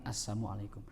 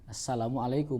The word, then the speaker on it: Assalamualaikum: Masa ee orang lancang kepada Nabi, orang Yahudi ya mengatakan assamualaikum. Nah, orang sekarang saya yakin yang diucapkan itu bukan assamualaikum. Karena mereka satu bukan orang Arab. I yang kedua ikut latah ngikuti kaum muslimin. Jadi ucapan salamnya benar gitu. Assalamualaikum.